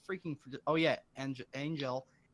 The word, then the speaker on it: Engel: Oh yeah, Angel, Engel, like it's spelled angel, but without the A.